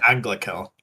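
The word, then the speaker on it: Anglachel: Anglicel.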